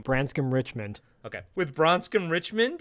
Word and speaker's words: Branscombe: In the back, Marlboro Man is playing pool with Bronscombe Richard. With Bronscombe... Zach, tell me his name. Branscombe Richmond.